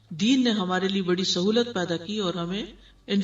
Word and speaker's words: سہو: سہو ہوتا ہے، سہو نہیں ہوتا. سب لوگ اپنا تلفظ بھی درست کر لیں. سہو جیسے لغو، ٹھیک ہے، کرم، نفس، سہو.